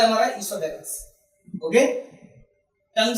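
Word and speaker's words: oesophagus: Okay, इसोफेगस जिसका दूसरा नाम फूड पाइप भी है, और इसका जो स्पेलिंग आप देख सकते हैं ओ से स्टार्ट है, लेकिन ओ इसमें साइलेंट होता है।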